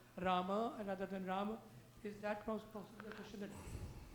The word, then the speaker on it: Rama: So, for example, you may say Ram, Ram Ram, Hare Hare. Well, it's really Ram Rama, Rama Rama. Okay, in order to complete the 8-syllable meter there of the Anushtup or Shloka meter.